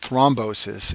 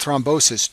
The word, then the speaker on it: thrombosis: complication is called stent thrombosis and this name rhymes with restenosis but it's a completely